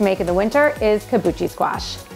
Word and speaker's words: kabocha: in the winter is kabuchi squash i know i know you say kaboka i say kabuchi but more importantly than